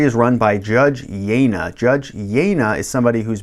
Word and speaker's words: Jejna: Judge Jejna is how you say his name. Some people say Jenja, some people say Jenga, some people say anything.